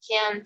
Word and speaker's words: can't: Y para hablar en negativa es can't, o sea, la T es un poquito más pronunciada, no muy pronunciada, pero sí se hace notar, ¿no?